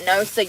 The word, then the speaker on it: Noosa: When we had that yogurt the other day, I should have showed y'all that Noosa yogurt. It's spelled N-O-S-A, Noosa, and it's some kind of like goat yogurt or something.